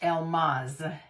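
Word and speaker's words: Elmase: Her name is spelled E-L-M-A-S-E. But it's pronounced Elmaz.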